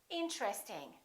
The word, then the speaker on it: interesting: at a few more most people don't say interesting they say interesting interesting this TR are connected interesting look at this